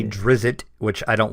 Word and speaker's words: Drizzt: is very true there is many ways to pronounce the name of the one and only Drizzt Do'Urden I say Drizzt is how I say it that's how I